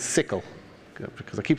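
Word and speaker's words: SYCL: brought out is this thing called after mem pronounces it's sickle because I keep saying it wrong people Excel you know it's pronounced it sickle it's a single source language like CUDA you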